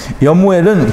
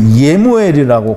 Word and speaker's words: 예무엘: 여무엘은 그 예무엘이라고 그렇게 발음을 하는데요.